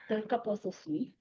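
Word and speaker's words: Pterocarpus osun: Is that pronunciation correct? Pterocarpus osum.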